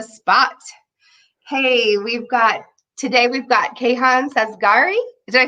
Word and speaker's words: Sazegari: Hey, today we've got Kayhon Sazegari. Did I say it right? Sazegari Yep, that's me.